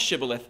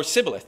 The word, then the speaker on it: shibboleth: stream or a Ford but the aphramites pronounced shibboleth shibboleth um or sibilith they pronounce it sibilith the ephraimites they didn't have the sh sound in the way that they pronounce things um so when the aphramites